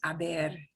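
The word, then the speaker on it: haber: to be a but they're all spelled with h's because aber yeah has that age that we can't get rid of we just don't pronounce it the form will be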